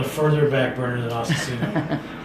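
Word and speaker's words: Asesino: So, speaking about your side projects, ASSESINO, is ASSESINO. That's the correct pronunciation?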